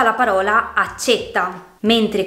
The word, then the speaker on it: accétta: Per esempio, con la E chiusa si pronuncia la parola accetta, mentre con la E aperta diventa accetta.